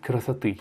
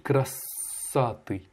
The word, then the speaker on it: красоты: Et donc, ta deuxième erreur, après génie, c'est красоты. Tu as mal prononcé, tu as dit красоты. Alors que non, c'est красоты. Как гений чистой красоты. L'accentuation est sur la dernière syllabe, le «ы». И сердце бьется в упоение.